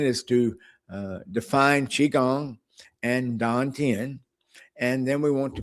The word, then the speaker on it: dantian: So, Dan and Tan, that's kind of like the same, when you say Dantian with the T, think of the way you say butter. You don't really say butter, right?